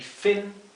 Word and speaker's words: fin: Y fin, aleta. Fíjense que la I se pronuncia más cerrada que la I del español. No es fin, es fin. Es una I más cortita y más cerrada.